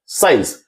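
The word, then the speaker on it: science: जैसे अगर बात करें साइंस, तो यहां हम लोग देख सकते हैं सी साइलेंट होगा, सिर्फ हम लोग पढ़ रहे हैं साइंस।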